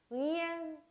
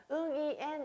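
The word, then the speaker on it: Nguyễn: 응엔 그대로 응 발음을 역시 목구멍에서 한번 머금고 하나의 단어처럼 발음하는 것이 중요합니다. 응이엔 이렇게 딱딱 끊어서 발음하는 게 아니라 하나의 단어처럼 하나의 발음처럼 응엔 하고 발음을 해야 돼요.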